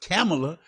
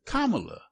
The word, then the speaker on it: Kamala: making certain that everybody understood how to even pronounce her name right correctly it's not camela it's Kamala and people were making certain that they gave